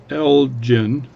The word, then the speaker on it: Elgin: Oh, that's Ottawa with the Elgin Diner. So anyway, this is an Elgin, but people are saying it's pronounced Elgin for the watch company. So I'll call it Elgin just to make so I don't get any comments.